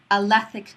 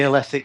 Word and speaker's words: Alethic: And you do a specific type of coaching called Alethic Coaching. Did I say it right? Well, some people say Alethic, some people say Alethic. I tend to say Alethic because I'm a northerner.